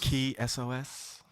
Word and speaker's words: Kisos: And it's none other than artist Kisos. Kisos. Or Kisos. Kisos. Key SOS. I heard him pronounce it like maybe one time.